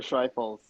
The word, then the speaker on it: Schreifels: Walter Schreifels.